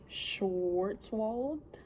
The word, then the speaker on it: Schwarzwald: I never know how to say the name, but it's like Schwarzwald is how you pronounce it. It's German.